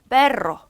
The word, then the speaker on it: perro: 그리고 여기 중간에 알이 2개일 때에도 발음이 3개 나오죠. 르르 소리가 나서. 그래서 perro 개라는 뜻이에요. 만약에 이게 알이 하나면 perro 그러나 라는 뜻이 되거든요.